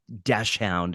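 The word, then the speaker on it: dachshund: think you call it we call it dash hound which is the German pronunciation but in uh in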